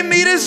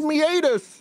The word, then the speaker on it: meatus: a lot what urinary meus is real what the is the urinary meus man it's meatus it's pronounced meatus what is a urinary